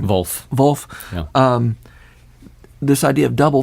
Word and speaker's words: Volf: How do you pronounce his last name? Volf.